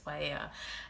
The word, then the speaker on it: paella: how they pronounce it, or it's written as paella, but it's paella.